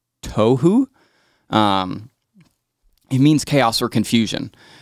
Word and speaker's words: tohu: The word formless in Hebrew, it's pronounced tohu.